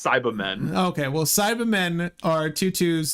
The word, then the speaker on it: Cybermen: People usually pronounce it Cyba, so Cyberman. Oh. Because British.